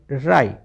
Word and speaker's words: wry: WRY राई, WR में W silent.